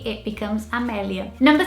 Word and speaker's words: Amelia: And in Portuguese, you would say it Amelia. I think in order to get the same sound as Amelia in British language, you'd probably have to spell it with an E in Portuguese. So if Amelia was spelled starting with an E, you would say in Portuguese Emilia, which sounds more similar than Amelia.